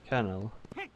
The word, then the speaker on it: colonel: Is it pronounced Colonel? Colonel. And there is a perfectly reasonable spelling to it. Kernel. You know, like the Linux kernel. That's how you spell that word.